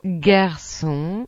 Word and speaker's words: garçon: Las letras doble S y el C con cedilla se pronuncia como el S español, por ejemplo, Garçon.